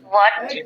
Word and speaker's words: what: Red mark করা মানে হলো এই সব শব্দের উচ্চারণগুলো বাংলাদেশিরা জানে না। What, when, এই যে তুমি বললা কি hot, when, where, why, which, সবগুলোর মধ্যে তুমি হ বলছো।